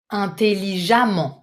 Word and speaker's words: intelligemment: Intelligent, intelligemment. Very careful with the pronunciation. Vous écrivez E-2-M-E-N-T. You pronounce this E as if it was an A. Intelligemment. Do not doubt. It's really an open A.